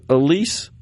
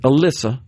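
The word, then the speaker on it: Elissa: Another example of a delusional and just dumb Democrat, Senator Elisa, or I think she pronounces it Alyssa Slotkin.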